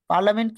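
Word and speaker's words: parliament: পার্লামেন্ট কি পার্লিয়ামেন্ট, পার্লিয়ামেন্ট। স্যার so spelling একবার এইভাবে পড়েন।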